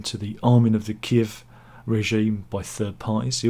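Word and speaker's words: Kyiv: Kirk it was key Kiev was the Russian name of it and it's kiv I always always been the the pronounce gif that's the Ukraine pronunciation of it um but yeah but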